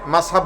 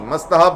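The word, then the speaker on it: মুস্তাহাব: অনেক হুজুর এটারে মাসহাব বলে, দরকার কি মাস্তাহাব বলেন, টি তো একটা আছে, অনেকে টি উচ্চারণ করে না।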